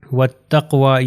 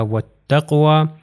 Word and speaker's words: وَالتَّقْوَى: اگلی اگزامپل میں چلتے ہیں، یہ ہو جائے گا وَالتَّقْوَى. یہ واو کے بعد الف اور لام میں یہ پروناؤنس نہیں ہوں گے، تو یہ تے سے مل جائے گا، ہو جائے گا وَالتَّقْوَى.